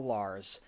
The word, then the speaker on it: Lahr: church it introduces you to author ron l lars protagonist for a series the cathartic chronicles he